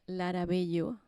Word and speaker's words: Lara Bello: As I said before, my name is Lara Bello or Lara Bello, as you would pronounce it in Spanish.